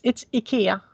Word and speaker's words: Ikea: before we go, which was, how do you pronounce Ikea in Swedish? Apparently it's not what I think. Yeah. It's Ikea.